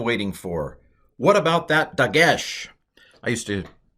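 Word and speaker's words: דגש: dagesh i used to i tend to call it dogesh but that's wrong but it's very dogged of me to call it doggish but anyway it's dagesh hebrew in general tends to pronounce um words with the accent on the last syllable so dagesh makes sense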